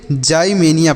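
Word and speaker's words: ximenia: अर्थ होता है बच्चों एक्स का यहां पर उच्चारण जो करेंगे वह ज के रूप में करेंगे तो इसे हम पढ़ेंगे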